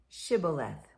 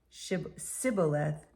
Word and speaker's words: Shibboleth: When he said no, they said to him, "Then say Shibboleth." And he said Sibboleth, for he could not pronounce it right.